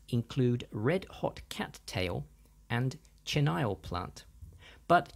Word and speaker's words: chenille: red hot Cattail and chenile plant but chenile is actually the French word for Caterpillar so should be pronounced something closer to chenil apologies for my terrible